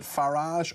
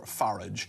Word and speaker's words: Farage: And I said is it Farage or Farage? And he said it's the difference between how people say garage or garage.